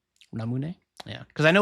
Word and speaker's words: Ramune: Ramune. Ramune. Yeah, cuz I know like you like phonetically the the the U vowel is is more or less silent in Japanese.